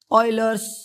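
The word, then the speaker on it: Euler: वाले हैं वो है ऑयलर्स कांस्टेंट, ठीक है। ये इसको ऑयलर प्रोनाउंस करते हैं, ठीक है। इनकेस अगर आपको पता नहीं है तो ऑयलर, ठीक है, ऑयलर, ठीक है।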